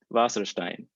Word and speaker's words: Wasserstein: to sierra so i my instincts tell me to pronounce this in german so how you would pronounce it in german is vasserstein but uh is is